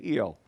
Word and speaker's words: Rio: We're going to spend 2 days in Rio, or as the locals would say, Io. They don't pronounce the R becomes kind of a muted H. So it's not Recife, it's Recife. I can't do it very well, so if you'll forgive me, I'm just going to use the English R pronunciation.